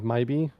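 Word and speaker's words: Mhybe: Yeah, so the narrator pronounces it like Mybe. Mybe.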